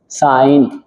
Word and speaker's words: sin: दी गई है कि इस साइन को एस आई एन को आप शॉर्ट में बोलेंगे साइन क्लियर है ना ओके सर